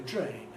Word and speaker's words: drain: words like train, and what happens after D in words like drain, because of course what happens in those positions is that you get a fricative. And we don't say brain, we say drain. We don't say terrain, we say train.